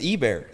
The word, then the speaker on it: Ebare: It's like hay bear.